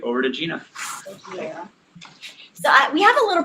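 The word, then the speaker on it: Jijin: is Gina um it spelled a little strange as j-i-j-i-n-capital a but it's pronounced Gina this is my email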